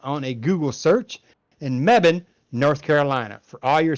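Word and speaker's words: Mebane: spell that it's m-e-b-a-n-e it sounds nothing like you pronounce it it's going to be mebin mebbin my mebin north carolina so if all your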